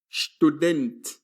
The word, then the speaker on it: Student: In German, when the letter S begins a word and is followed by a consonant, it is read as sh. Repeat the word student.